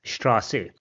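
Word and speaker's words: Straße: So here it also has the sound of double s. So it is pronounced as straasi.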